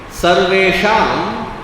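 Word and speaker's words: सर्वेषां: So here Sarve sham the anuswara is followed by cha. So therefore it should sound as though it is coming from the nasal sound of the cha varga.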